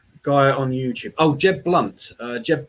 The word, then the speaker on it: Blount: Oh, Jeb Blunt. Jeb Blunt. So it's Jeb, Jeb, and his surname is BL. It's spelt Blount, I think.